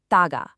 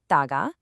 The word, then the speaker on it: 다가: Let's get the pronunciation right. It's taga. Again, taga. One more time. Taga.